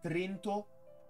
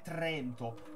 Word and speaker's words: Trento: ce n'era un'altra ragazzi non è Trento e Trento si dice Trento Madonna No io non posso vivere sapendo che la pronuncia corretta è Trento l'italiano effettivamente considerato uno